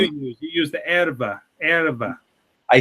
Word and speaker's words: erva: Erva. The way I say it, it's erva.